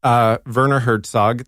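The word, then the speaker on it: Werner Herzog: movies and on all of them along with Verner Hertzog that's how you pronounce it along with Hertzog's he wanted to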